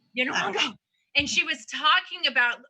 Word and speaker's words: Nyong'o: Oh my God, I was watching, it was a Super Soul Sunday with Oprah recently, and Lupita, how do you pronounce her last name? Nyong'o. Nyong'o.